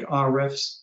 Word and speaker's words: Ahrefs: So the way to measure the real ranking of your website is to use some of the tools I mentioned earlier, like Ahrefs, that's spelled A-H-R-E-F, or Moz.